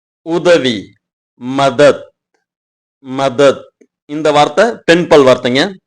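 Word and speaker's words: में: இந்த இடத்துல வர்ற இலுக்கு மே இந்த வார்த்தையை பயன்படுத்தனுங்க. இது ஏப்ரலுக்கு அப்புறம் வர்ற மே இந்த உச்சரிப்பு கொடுத்தா போதும். நான் சொல்ற மே மாடு கத்துற மாதிரி மே அப்படின்னு சொல்லணும்.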